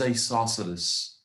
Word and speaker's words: isosceles: triangles what's the second one how do we pronounce this it is isosceles isosceles triangles i saw sort of triangles that